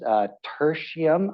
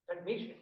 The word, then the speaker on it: technetium: You know, if you look at, I think this is tertium, I'm sorry, TC, I forgot. Oh no, tertium. Help me out again. Technetium.